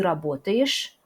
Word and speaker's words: работаешь: Et par exemple, ты работаешь, on ne prononce pas yesh, mais on prononce yish, quelque chose entre ye et i.